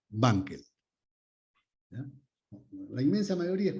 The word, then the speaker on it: Wankel: Wankel. La W se pronuncia como B, Wankel.